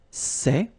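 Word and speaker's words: ces: For the plural form, so masculine plural, it would be c'est, okay?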